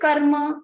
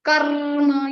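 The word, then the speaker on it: कर्म: Similarly, karma, after ka you have ra and ma. Both are combined letter, but you don't need to put stress on karma. You cannot make it dvitva, make it double ra. It is karma, not karma.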